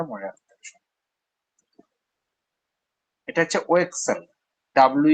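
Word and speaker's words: Wechsler: এস এই নামটা মনে রাখতে হবে এটা হচ্ছে ও Excel W ই সি এইচ এস এল ই আর এটাকে ও এক্সেল বলতে হবে আর উচ্চারণ আসবে না সাইলেন্ট লেটার এস এল এর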